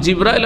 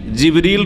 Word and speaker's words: জিবরিল: তাহলে জিব্রাইল আলাইহিস সালামের নাম কোরআনে কারিমে জিবরিল রয়েছে, যেটা অন্য উচ্চারণে জিব্রাইল, অন্য কেরাতে জিব্রাইলও, জিবরিল,